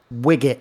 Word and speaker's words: Wigit: There's no D in there. I am not an app. Just remember, it's Wigit.